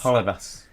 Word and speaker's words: Holebas: He pronounced Genoa properly, which some people have trouble with. The foreign man, though. What's Jose Halibas? Holebas.